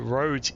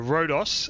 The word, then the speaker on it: Rhodes: uh flying as a British Airways 624 today heading uh on a flight down to roads in Greece. Sorry, Rodos in Greece. I should uh pronounce that correctly.